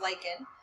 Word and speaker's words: lichen: help them a lichen this is pronounced lichen this is a fungus